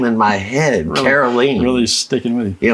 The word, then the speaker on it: Caroline: name in my head carolene really sticking with you you know I need to remember it's like rhymes with yeah kerosene kerosene I'll remember it now